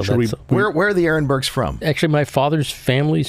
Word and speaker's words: Arenberg: aronburg or Arenberg aronberg you see a e and people think R aronburg that's how that's how we pronounce it how we that's